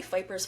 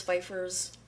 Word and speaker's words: Phypers: Is that how you pronounce this name? I always say Fipers. Feifers. I say Fipers. I think that's how I've been hearing it in the courtroom.